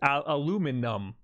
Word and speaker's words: aluminum: But there's no I there. It's aluminum.